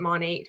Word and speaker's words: Monat: stands for modern nature technically you're supposed to pronounce it Monet but I mean who cares everybody knows when you say Monique monat people understand when I